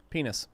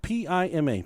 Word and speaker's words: Pima: Penis. You pronounced it wrong. P-I-M-A. Pima Indians. Pima. Yep.